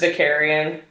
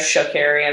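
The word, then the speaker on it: Vakarian: Garrus Vicarian. Yeah. Oh, I almost said Garrus Shakarian.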